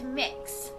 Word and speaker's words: Mix: It's mix. So kind of like cookie mix or mixing bowl, that sort of thing. That's how it's pronounced.